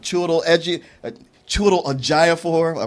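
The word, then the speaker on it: Chiwetel Ejiofor: Is it Chiwetel Ejofor?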